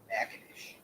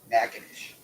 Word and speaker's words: Natchitoches: The name of this town is Natchitoches. You heard me. Natchitoches.